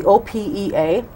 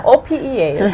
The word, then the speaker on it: OPEA: She is the president of the OPEA. Do you pronounce that OPE? Yeah. No, OPEA. Okay.